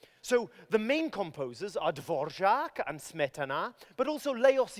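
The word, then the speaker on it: Dvořák: So that's the R with a har check over it. That har check actually means hook. It's that little downward-facing arrow. So his name is Antonín Dvorak. Dvorak.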